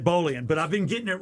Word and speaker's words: Bolian: I think I used to say Bolon, but it's Ed Bolian.